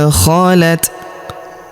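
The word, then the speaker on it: خَلَتْ: Huruf ta berharakat sukun dan kita hentikan bacaan kita di sini. Maka huruf tanya kita berikan hembusan tipis ya. Tilka ummatun qod khalat khalat.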